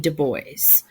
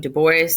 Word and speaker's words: Du Bois: talking about Freud and Dubois ok no it is not pronounced du Bois he pronounced his name to boys so we're gonna pronounce